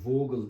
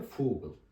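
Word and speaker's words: Vogel: örneği yazayım Google yani v harfi başta olduğu zaman F gibi okunu Yani vog değil de fogle ve fogle kuş anlamında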